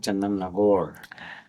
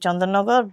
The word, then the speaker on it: Chandannagar: Chandannagar or was it Chandannagore? Well, I am half Bengali, so I'm pronouncing it Chandannagar, but, you know, uh